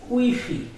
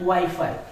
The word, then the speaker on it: Wi-Fi: It is Wi-Fi, not Wi-Fi. In English it is Wi-Fi, but in Spanish it is Wi-Fi. Because every Spanish letter has only on pronunciation.